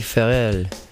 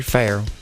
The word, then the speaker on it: Farrell: to say it well if you're French you're going to say Perry farell and if you're from the south you might say Perry frell Perry farell we're going